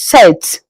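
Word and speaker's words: sept: In French seven is set. Set. You leave out the P. The P is being silenced.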